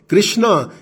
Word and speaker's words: कृष्ण: उत्तर भारत में हिंदी की Devanagari script speech में आ का साउंड ड्रॉप कर देती है। जैसे रामा हो जाता है राम, कृष्णा हो जाता है कृष्ण और शिवा हो जाता है शिव और योगा हो जाता है योग।